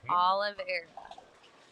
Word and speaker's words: Oliveira: Oliveira.